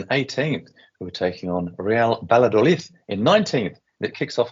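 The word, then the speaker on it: Real Valladolid: many wins from them but real badol as we're now pronouncing it the correct way are doing pretty well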